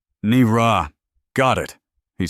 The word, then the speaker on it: Naira: "It's pronounced Nira," she corrected, her voice flat. "And nothing in your language rhymes with it." "Nira.